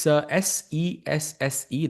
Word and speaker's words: Sesse: It's SESSE. That's how you pronounce it.